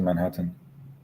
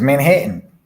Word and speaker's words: Manhattan: I just came to Manhattan. It's Manhattan. Pronouncing all your T's.